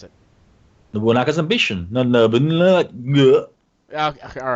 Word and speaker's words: Nobunaga: Also on the 28th, Nobunaga's Ambition, Sphere of Influence, Ascension for PC and PS4. Carnival You Games. suck. Well, how do you pronounce it? Nobunaga's Ambition.